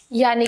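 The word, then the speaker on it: ja: Next, या, या यानी कि यस। जे को जर्मन में हम य प्रोनाउंस करते हैं, य, या यानी कि यस।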